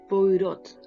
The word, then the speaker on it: Poirot: policíaca, que es Hércules Poirot, un apellido que no se pronuncia.